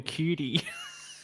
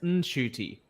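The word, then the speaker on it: Ncuti: Shooty said it's pronounced Shooty. Yeah, he said for years he was getting it wrong, and he said, now people just call him Shooty.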